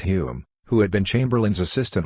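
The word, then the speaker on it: Home: conservative government headed by H pronounced Hume who had been Chamberlain's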